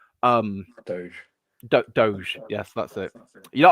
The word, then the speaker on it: DOGE: that's it you know I used to pronounce it as Dodge for years and years um wrongly and it's still a thing I'm trying to stop myself from doing sometimes um yeah yeah